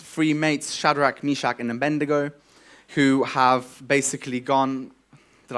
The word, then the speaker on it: Abednego: We've got Daniel and his three mates, Shadrach, Meshach, and Abednego, who have basically gone, did I say it wrong? Abednego.